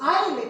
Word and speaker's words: island: i love industry now remember the pronunciation that is ireland is not isil s remains silent remember that okay now